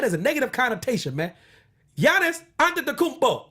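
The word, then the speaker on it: Giannis Antetokounmpo: a freak that is a negative connotation man Yanis under the kupo say it it's a cool name to say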